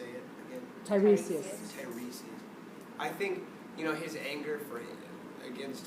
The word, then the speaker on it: Tiresias: Tiresias.